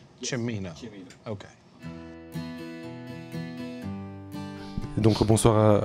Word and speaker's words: Cimino: Cimino.